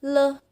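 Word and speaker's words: 了: ก็ เหลียว นะ คะ ปกติ เนี่ย เรา มัก จะ เจอ อ่าน ว่า learner ใช่ ไหม คะ แต่ ใน ประโยค เนี่ย เขา อ่าน ว่า เหลี่ยว นะ คะ คำ คำ ศัพท์ คำ นี้ นะ คะ อ่าน ได้ 2 แบบ คือ เลิก กับ เหลี่ยว นั่น เอง นะ คะ ชื่อ ตัว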